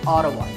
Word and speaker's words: Ottawa: the capital of Canada is audible yes it's pronounced Ottawa autowash this is a fact about the world